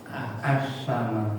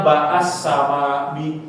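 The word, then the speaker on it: السماء: Jadi kalau misalnya ada sebelum yang mendahului, nah itu bacanya mengikuti huruf sebelumnya. Tapi kalau misalnya dia di awal bacaan a, selalu a ya. Jangan dibaca a, jangan nanti bacanya baas sama bias sama. Nah kalau seperti itu keliru.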